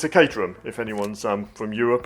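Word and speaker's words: Caterham: we're not worried about that but it's a katerum if anyone's um from Europe and wants to know how to pronounce katerum properly.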